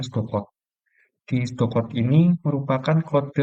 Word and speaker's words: pseudocode: Nah, tulisannya pseudocode, kita bacanya pseudocode.